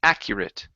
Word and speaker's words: accurate: instead of accurate okay let's pronounce a short I and a t accurate accurate okay very good all